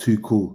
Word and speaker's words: Tuchel: It's pronounced too cool.